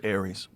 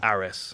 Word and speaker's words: Ares: What was Aries? It's the French promotion. Okay. Ares. I always say it wrong.